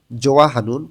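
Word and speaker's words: 좋아하는: শিখবো জোয়াহানুন পছন্দ করা আমরা জানি হিউত বাচ্চিমে থাকলে এর উচ্চারণ হয় না আবার হিউতের পরে যখন ইয়োগ আসে তখন হিউতটা ইয়োগের স্থানে যায় না এখানে উচ্চারণটা হবে জোয়াহানুন পছন্দ করা খেজরে ঋতুর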